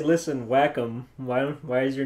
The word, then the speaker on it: Wacom: Fun fact, guys, that actually is what their friggin' name is pronounced as whack 'em. Mm-hmm. Funny. You call their friggin' customer support, that's how they pronounce it. It's not Wacom, you filth.